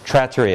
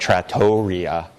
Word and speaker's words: trattoria: Trattoria, it's a schwa, not trattoria.